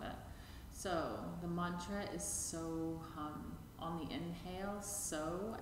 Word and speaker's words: So: hum on the exhale said to be the sound of the breath itself so try and blend